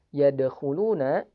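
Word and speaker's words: يدخلون: Jadi hati-hati, cara bacanya bukan yadkhuluna. Jadi suaranya seperti diputus, tidak. Tapi suaranya mengalir dan dipantulkan secara ringan.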